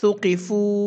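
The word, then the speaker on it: ثُقِفُوا: আলিফ টেনে পড়তে হয়, কিন্তু এখানে আমরা টানবো ৩ আলিফ, কারণ এখানে যে চিহ্নটি দেওয়া আছে এই চিহ্নটি থাকলে ৩ আলিফ টেনে পড়তে হয়। উচ্চারণ হবে সুকিফু।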